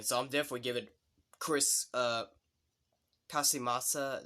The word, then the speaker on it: Casamassa: But still, overall, this guy did a great job as Scorpion, so I'm definitely giving Chris, Casamassa, that's how you say his name, Casamassa, I'll give him a thumbs up for his performance in Mortal Kombat Conquest.